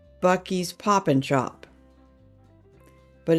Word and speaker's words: Buc-ee's: Anyway, he absolutely adores going to Buc-ee's.